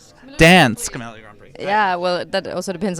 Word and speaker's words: Dansk Melodi Grand Prix: Wow, I love their pronunciation. No, let's get it right. Dansk Melodi Grand Prix.